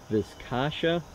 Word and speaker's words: Viscacha: a seat bag and I believe it's pronounced the viscacha I think that's how they pronounce it inside that what I'm